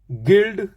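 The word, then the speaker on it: guild: ई guest गाइल यू के बाद आई गाइल गिल्ड जी के बाद यू के बाद आई गिल्ड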